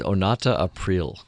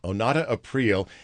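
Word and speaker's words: Onata Aprile: Well, how do you pronounce her name again? Her name is Onata April. Onata April.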